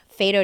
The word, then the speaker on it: fais do-do: started taking me to Fat Do's which are cun dances um how do you say it fedo f yeah f a i s d o d o um the term